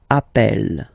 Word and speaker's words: appelle: are the same, then it does change the pronunciation of E. You tend to pronounce it like really open. That's the reason why you pronounce it appel, okay?